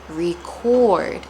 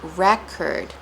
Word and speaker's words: record: But the words are both spelled the same, record and record, but they sound differently. And you can hear and see the difference in where we place the stress.